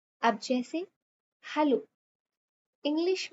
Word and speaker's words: Hallo: अब जैसे हेलो, English में हेलो को हम जर्मन में क्या बोलेंगे? Simple, हालो। ए is pronounced as आ, ये हमने पिछले लेक्चर में पढ़ा था।